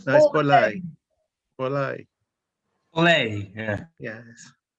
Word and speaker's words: Borley: Some people get my surname wrong, of course, but it's Borley, as it is not with end with a Y.